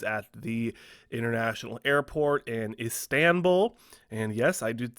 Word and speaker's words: Istanbul: He did test positive for the illness when he was at the international airport in Istanbul. And yes, I did say it right this time, Istanbul.